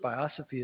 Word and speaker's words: biosophy: Before you go, can you tell us what biosophy means? Did I say it correctly? Biosophy, yeah, that's a good one.